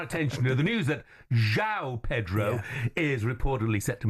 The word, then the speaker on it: João: Right, straight away, is it João? João Pedro. Yeah, that's what I thought. Not Yao.